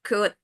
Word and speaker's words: could: So make sure that you're sure with your pronunciation, like should, would, could. The L is not pronounced.